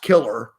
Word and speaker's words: Kilar: It's like pronounced killer, but his name is Killar is how you spell it, Kilar, and his name's Bob Killar.